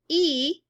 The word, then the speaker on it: y: and so on plus the letter y which is pronounced e and means and and then the number